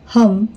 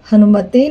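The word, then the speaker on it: हं: सफलता मिलती है ओम हम हनुमते नमः मंत्र में हम का उच्चारण हन कहा जाता है इस मंत्र को ओम हन हनुमते नमः भी कहा जाता है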